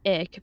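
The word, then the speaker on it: Icke: Around 4% Americans believe in this theory with David Ick being one of the prominent advocates. I don't know it's Ike or Ick. I've heard it pronounced both ways.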